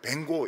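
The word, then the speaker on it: Van Gogh: 또 어떤 사람이 이제 반고호, 영어 발음은 뱅고 이릅니다. 뱅고.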